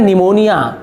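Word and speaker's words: pneumonia: हैं को जोड़ते हैं यह साइलेंट होता है तो क्या होता है निमोनिया ठीक है तो क्या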